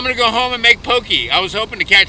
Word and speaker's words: poke: make a very simple poke by the way i caught myself mispronouncing poke on the water i kept calling it pokey i've been doing that